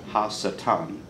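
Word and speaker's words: הַשָּׂטָן: And in Hebrew, the term the opposer is pronounced ha-satan, the Satan.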